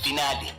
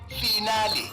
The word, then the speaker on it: finale: to mispronunciation today's word finale origin Italian pronunciation finale meaning the last part of a series commonly mispronounced as final as if you're discussing